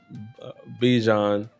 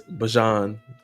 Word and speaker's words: Bijan: It's not uh, Bijan, it's Bajan.